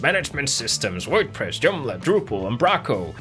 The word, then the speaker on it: Umbraco: Is that how you say it in English? Like in Danish it's Umbraco. Because we like roll the R in that like that really like Viking way, like when we talk.